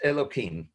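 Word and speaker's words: אלוקים: hashem loki remember elohim is spelled youth but pronounced elokim so moshe albania uses the same terminology he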